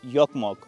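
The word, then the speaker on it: Jokkmokk: वैसे जोकमोक लिखते हैं, लेकिन इनकी भाषा में जे को प्रोनाउंस नहीं किया जाता, जे को ये य कह के प्रोनाउंस करते हैं, तो इसको बोला जाता है योकमोक।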